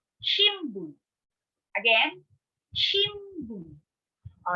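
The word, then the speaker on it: 新聞: So instead of saying shinbun, we say shimbun.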